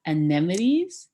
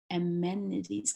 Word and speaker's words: amenities: Anemones. Yes. Okay, I got it. There's anemones. So with anemones, am I saying it right? Amenities.